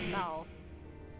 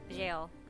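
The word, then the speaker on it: gaol: 6 locks to his gall. Jail. It's jail, right? It's still jail. Jail. Even though it's spelled...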